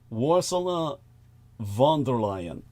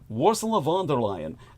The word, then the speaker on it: Ursula von der Leyen: Again, I'll try and pronounce her name the way that our man Brendan ẒOGHET, our resident Deutschensprach, our German speaker, would say it. Ursula von der Leyen. I guess that's it.